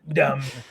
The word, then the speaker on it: dumb: You don't you don't pronounce the B. It's a silent B.